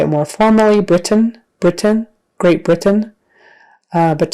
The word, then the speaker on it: Britain: is a z Louisiana Britain Britain so that final syllable is more like just an n Sound we say Brit and then we make the end sound Britain Britain Britain um